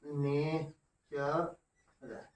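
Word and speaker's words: nature: यू आर क्या हो, जब टी के बाद यू या यू आर आए और अंत में ई हो तो टी का उच्चार क्या होता है, च होता है। जैसे अब इसको पढ़ना है तो क्या पढ़ेंगे लोग, ने च र। न कि नटूरे नटूरे नहीं कहना हम लोगों को, नटूरे ऐसा नहीं करना है।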